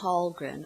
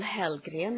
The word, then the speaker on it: Hällgren: Hello, my name is Hällgren, or Hällgren as you pronounce it in Swedish.